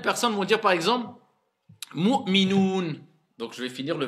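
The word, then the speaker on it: مؤمنون: Donc certains vont faire Mu'minon. Il y en a plein, ils le disent Mu'minon. Est-ce que ça c'est un OU? Non. Donc je dois dire Mu'minoun. D'accord? Faites bien attention à prononcer bien le OU et pas O.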